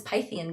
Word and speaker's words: Pythian: They all met up at Delphi for I was saying it wrong, it's Pythian games because Python.